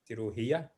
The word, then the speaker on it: cirugía: Cirugía. Cirugía, yes, exactly. Soft C sound. The G is silent.